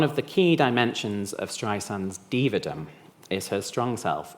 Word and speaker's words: Streisand: is the pronunciation of Streisand, like sand on the beach. It's not Streisand, she often says, my friend Liza has a Z.